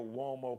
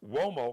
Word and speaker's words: Uomo: You can check out his Mario Uomo collection now. It's pronounced Uomo, Mario Uomo, so it's got the W sound, but Uomo spelled with a U.